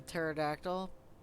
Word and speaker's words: pterodactyl: Yeah, watch out for the pterodactyl. You won't be able to hear it coming because the P is silent.